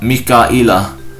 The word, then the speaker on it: Mika'il: Narrated Abu Sa'id al-Khudri, the Messenger of Allah related a tradition in which he mentioned the words Jibril and Mikal, and he pronounced them Jibra'ila wa Mika'ila.